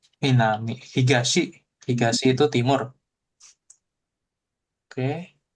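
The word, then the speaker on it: 南: Minami. Minami.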